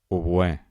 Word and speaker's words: oboè: Comencem per les agudes, intentem pronunciar-les. Un moment abans que ho digui jo. Xofer, oboè, alfil, zenit, futbol, el Tibet, els Carpats.